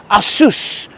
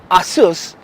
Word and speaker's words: Asus: or an Asus or how you Americans say you say Asus it's Asus but I digress but